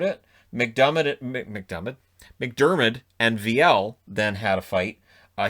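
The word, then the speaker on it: Viel: know i know v-i-e-l it's easy enough to call him veal but it's vl that's the way the san jose announcers say it i always go by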